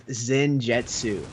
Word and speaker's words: Zenjetsu: Zen's name is pronounced as Zenjetsu. Okay, I can see that. Zenjetsu. Jinzetsu. Not Zengetsu. Right. Zenjetsu. That makes why sense.